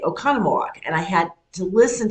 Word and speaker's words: Oconomowoc: And as they're giving the weather, they would say Oconomowoc.